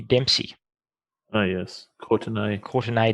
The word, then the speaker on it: Courtenay: their first name is Courtney Dempsey. Oh, yes. Courtenay Dempsey, sorry. Yep, that's actually very important that you pronounce that A for the purpose of this conversation.